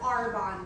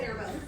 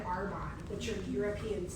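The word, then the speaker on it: Arbonne: I didn't even pronounce the word Arbon, right? Um it um I called it air bones and my sister-in-law invited me because she needed to make extra money.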